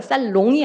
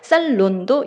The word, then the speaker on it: salon: 이거 발음은 살롱이 아니고요.